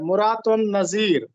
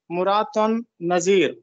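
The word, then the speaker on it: مراعات النظیر: درست لفظ کیا ہے۔ مرات النظیر میم پر پیش ہے اور تے پر بھی پیش ہے۔ مرات النظیر، مرات النظیر، اس کا تعلق علم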